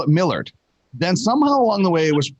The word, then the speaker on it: Millard: when uh when you're when your name is millard it gets spelled mallard all the time it's actually spelled m-i-l-l-a-r-d um where my dad grew up it's pronounced millard somewhere along the way